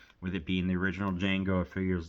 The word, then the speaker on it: Django: a bar and says, "My name is Django, but the uh D the D is silent."